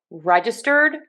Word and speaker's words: registered: Reg. Schwa for the middle syllable. Stirred. Stirred. Kind of like you're stirring something in the past. So registered, trademark.